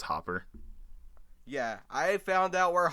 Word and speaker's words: Hopper: to say his name I used to say Hooper whenever I first saw it because I thought that's how you pronounce it but it's hopper yeah I found out